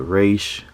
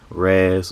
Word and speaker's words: Ra's al Ghul: Some people have said Raish, Raz, or Raz. I prefer Ra's al Ghul. Just sounds better on the tongue.